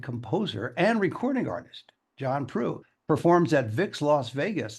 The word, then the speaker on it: Proulx: Proulx, but it's just like true, blue, same. Yeah, exactly the pronunciation.